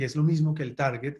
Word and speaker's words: target: se debe bueno pues la forma correcta de decirlo es target es una estupidez pero eso no es parte de la clase solamente una anécdota pero se dice target porque en inglés las sílabas se rompen diferente a español en español una sílaba sería t a r así la batería desde ese punto de vista uno leería como target en inglés la sílaba se rompe diferente se rompe después de